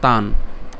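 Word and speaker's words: তান্: আমরা যদি ভেঙে বলি, প্রথম অংশটি হচ্ছে তান। আমরা কেন তানও বললাম না, কারণ এখানে হর্ষচিহ্ন আছে। হর্ষচিহ্ন থাকলে আমাদের উচ্চারণটা কতটুকু হবে? অর্ধেক হবে।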